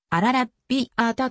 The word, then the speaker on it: アラビアータ: とも訳されるイタリア語では風のというオールをつけるのが正しくカタカナにするとアラビアータと読むことになる二名のアラビア